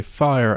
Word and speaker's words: fire: For me to say fire, I need to use the silent E rule. I put the silent E on the end, and I have fire.